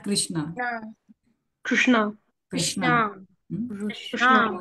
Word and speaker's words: Krishna: Krishna, Krishna. Krishna, So in English, most of us pronounce Krishna, Hare Krishna, like that. Actually, it is Kana. If you see recite in Sanskrit, it is Hare Kana.